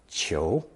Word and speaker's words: 求: also pronounced second tone cho.